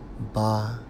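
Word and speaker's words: בחן: When we focus on tried in the Hebrew, Strong's H, 976, pronounced as ba-kan, and it means testing, tested, tried.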